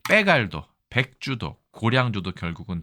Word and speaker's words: 빼갈: 점도가 높지 않습니까 그래서 간을 백갈 이렇게 얘기해서 바갈 예 그래서 백갈 갈로 됐다 바갈 이거를 우리나라 사람이 듣고 그죠 이건 빼갈 발음하면 좋겠다라고 해서 빼갈 주도 고량 주도 결국은